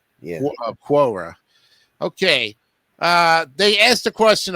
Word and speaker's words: Quora: weirdest stuff or more than 33 by now quora so that's how it's pronounced okay I didn't know I thought it was cuora yeah quora okay uh they asked the question of what is